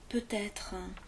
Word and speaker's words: peut-être: avait l'exemple également de peut-être normalement on prononce bien distinctement peut-être peut-être que oui peut-être qu'il viendra et en fait on